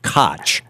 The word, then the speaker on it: Koch: And Koch is spelled, the old mayor of New York used to pronounce it Koch, K-O-C-H. Right. And in fact, I'm guessing that this is simply the way their family has always named their name, although I've had callers